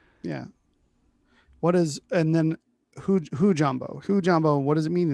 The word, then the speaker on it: hujambo: Should we see the pronunciation here? Hujambo.